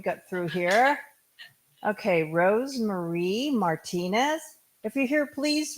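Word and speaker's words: Meagher: I'm sorry Mar spelled m e a g h e r but pronounced Mar sounds like Chinese actually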